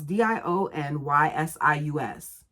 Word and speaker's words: Dionysius: Alexa, how do you pronounce d i o n y s i u s? I pronounce that Dionysius.